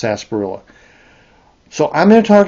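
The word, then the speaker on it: sarsaparilla: But it's pronounced sasparilla.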